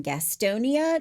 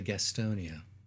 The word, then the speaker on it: Gastonia: And when living in North Carolina, that's how you say it. You don't say Gastonia, It's Gastonia.